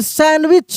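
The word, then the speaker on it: sandwich: यहाँ पे देखिए सैंडविच, क्या पढ़ते हैं हम लोग? सैंडविच, सैंडविच नहीं, सैंडविच। यहाँ पे डी जो होता है वो साइलेंट है, सैंडविच।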